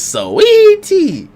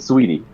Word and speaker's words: Saweetie: Yeah, you just call it sweetie. So you don't emphasize the A that's there. Only a tiny bit, sweetie.